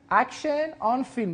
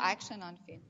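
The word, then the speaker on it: Action on Film: خب ما دلم میخواد که در خصوص این جشنواره اگر اشتباه نکنم و درست تلفظ بکنم اکشن آن فیلم، درسته؟ بله، جشنواره AOF یا اکشن آن فیلم.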